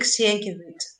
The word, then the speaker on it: Sienkiewicz: This a book called Quo Vadis, by, I will butcher the name, Enrique Sienkiewicz, I think is the pronunciation.